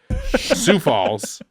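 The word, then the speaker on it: Sioux Falls: falls what you say for a pig right sou Falls uh let me be frank sou Falls very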